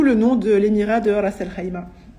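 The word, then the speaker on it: Ras al-Khaimah: nom de l'émirat de raselima qui ne se prononce pas racel Kaima s'il vous plaît et je vis auxmira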